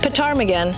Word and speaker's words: ptarmigan: Ptarmigan. The P in English is silent, so it's just ptarmigan.